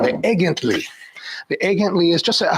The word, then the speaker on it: Egentlig: I know it says Egentlig, but it's Egently.